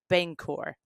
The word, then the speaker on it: Bangor: uh correct me if I say it wrong Bangor yes absolutely so what I'm finding is they